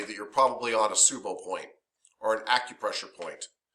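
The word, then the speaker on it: tsubo: And these are called Subo points. It starts with a T, but they're pronounced Subo points.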